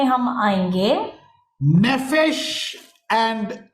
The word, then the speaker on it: Nephesh: Nephesh and Levav. नेफेश और लेवाव। I will tell you the spelling. आपको उसका स्पेलिंग बताऊंगा।